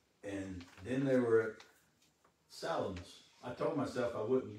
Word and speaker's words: Salamis: But Salamis is the way I read that it was to be pronounced. It's, you know, if you say Salamis, somebody thinks you're talking about a sandwich.